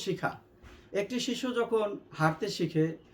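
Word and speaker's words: ح: এই হরফের উচ্চারণের স্থান হলো হলকের মধ্যখান হইতে।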